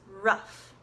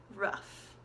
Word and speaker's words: rough: with a no ugh has an F sound in it ruff ruff and it's pronounced the same way that we say the sound that a dog makes ruff ruff which we